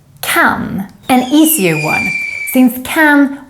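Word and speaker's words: kan: an easier one since can works exactly the same as the english can both in pronunciation and use the only difference is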